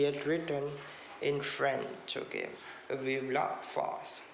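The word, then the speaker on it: Vive la France: written in french okay vivla fast that is the way it is pronounced in the french language okay fast then he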